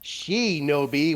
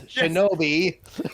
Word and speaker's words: Shinobi: a shouldn't I'm sorry they keep calling she no B when it's Shinobi I spelled it in